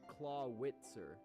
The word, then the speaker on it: Clawitzer: no that's a seed it's a claw witzer because you know Z is normally like make the S sound yeah he's like witch